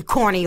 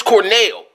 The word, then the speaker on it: Cornell: Axe MC Corny over here. It's Cornell. MC Cornell, okay?